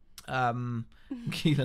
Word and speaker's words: Keela: Keela light rhymes with feeler.